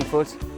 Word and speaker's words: Foot: Oh, sorry, my name is Foot. That's spelled F-O-O-T, which is hard for a lot of people.